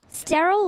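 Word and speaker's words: Steryl: So is Sterile spelled like S-T-E-R-Y-L? Sterile like Cheryl?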